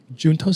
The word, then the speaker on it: Junto: you just started um junto house is that how you pronounce house yeah I knew it I knew it was Spanish I didn't want to